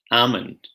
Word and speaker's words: almond: hmm not so much so would like salmon almond a walk had something in common what is